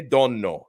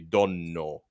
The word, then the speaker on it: Donno: Yeah, the right way to say it, it's Donno is how you say my name properly, Donno.